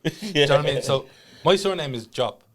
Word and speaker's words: Diop: it's going to the point where even i mispronounced my own name yeah so my surname is job right yeah d-i-o-p but everyone calls me let's